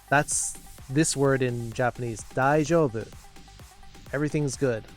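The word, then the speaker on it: 大丈夫: Daijoubu? Try to emulate that pronunciation, that intonation. Daijoubu. Up in the middle and back down again.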